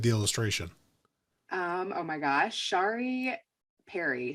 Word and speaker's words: Shari Perry: Oh my gosh, Shari Perry. So it's Pere, and her first name is spelled Chari.